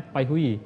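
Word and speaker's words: Baihui: paihui paihui Heh phui Kalau tulisannya dalam bahasa Cina b a u h u i bhui Tapi bacanya paihui Oke terapisnya harus hafal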